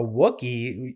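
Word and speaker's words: Wookiee: lightsabers what are you a wookie it rhymes with cookie like what do you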